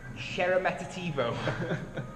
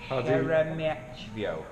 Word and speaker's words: Sheremetyevo: Sheremetativo. I've pronounced that wrong every time I've said it so far. Sheremetyevo.